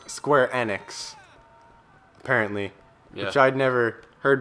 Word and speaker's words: Square Enix: time we learned okay Square Enix it's actually pronounced Square enex apparently which I'd never heard before but square